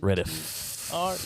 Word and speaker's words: Reddeth: No, with an E instead of an I at the back. Oh. Reddeth. But I pronounce it Reddith.